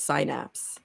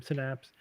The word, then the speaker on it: synapse: would read that word I thought it was sinapse syapse it looks like syapse to me yeah I that one I probably heard the soon after reeing it for the first time synapse but there's yeah there's